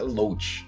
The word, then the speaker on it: loach: for we got loach pearl that's how you pronounce it loach yeah i don't know food okay oh very